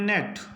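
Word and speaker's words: gnat: N eighty इसको पढ़ेंगे नेट जी के बाद एन है तो जी का उच्चारण नहीं होगा यानी कि जी के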